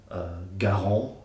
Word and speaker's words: Garand: Garand. I even got criticized for that once. Apparently I should be pronouncing it in Quebecois fashion, which I'll attempt as Garand.